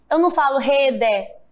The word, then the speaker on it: rede: Observe que quando eu falo rede, o E tem som de quê? De I. E parede, o E também tem som de I. Eu não falo rede, parede, né?